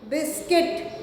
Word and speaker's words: biscuit: Biscuit, U is silent.